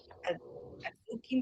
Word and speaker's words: adzuki: a mix of rice and how do you pronounce that? Azuki beans.